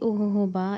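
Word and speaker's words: jojoba: ये ओहोबा इसको हम ऐसे प्रोनाउंस करते हैं।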